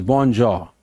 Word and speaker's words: bonjour: Bonjour. A foreign expression, French expression, bonjour. Pronunciation is bonjour.